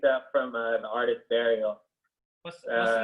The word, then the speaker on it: Burial: from uh the artist burial what's that what's the name what's the name burial how'd you spell it like i'm gonna bury like b-u-r-i-a-l oh okay artist out